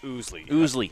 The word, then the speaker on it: Owsley: Now, some other Clear Fork players in the past, that has been pronounced Oosley.